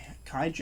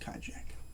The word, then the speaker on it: Kijak: and directed by stephen kijak i believe it's pronounced kaijak uh this is a